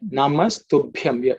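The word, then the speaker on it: नमस्तुभ्यम्: Look at the Ub, which is the fourth letter in the Pa Varga, to Bhyam. That's the way you should pronounce. Ub plus E plus A plus Anuswara, which is the dot at the top, gives you Ub plus Yam. Ub, Yam gives you Bhyam.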